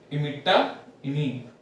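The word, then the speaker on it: imatinib: इसको ऐसे प्रोनाउंस करते हैं, इमिटानीब।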